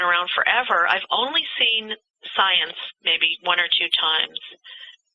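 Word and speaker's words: Psience: people i just called science yeah science because you know when we talk about psi activity the p is silent the term psi has been around forever i've only seen science maybe one or two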